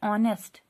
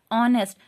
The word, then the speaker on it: honest: लेकिन जब हम इसे पढ़ते हैं तो हम इसे इस तरह से पढ़ते हैं ऑनेस्ट। क्या पढ़ते हैं, ऑनेस्ट। जो एच है, एच की साउंड नहीं आती है, एच की साउंड जो है वो साइलेंट रहती है, एच रहता है साइलेंट, तो साउंड किसकी आती है, ओ की, ऑनेस्ट।